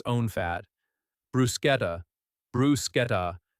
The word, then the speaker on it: bruschetta: Bruschetta, bruschetta, not bruschetta. The chant is a hard K sound.